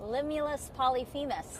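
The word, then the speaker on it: Limulus polyphemus: The one we have here is called Limulus Polyphemis. I say that three times. Limulus Polyphemis.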